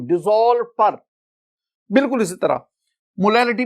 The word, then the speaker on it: molality: My dear student, अगर आप मोलैरिटी और मोलैलिटी दोनों के स्पेलिंग्स देखें ना तो देखिए MOLARITY मोलैरिटी, और इधर आप देखेंगे MOLALITY मोलैलिटी। एक में R है मोलैरिटी, एक में L है मोलैलिटी, बाकी लेटर्स दोनों में सेम है।